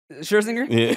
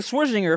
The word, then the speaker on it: Scherzinger: play that second one still scherzinger i just learned how to say it right i was saying switching her for so long because you called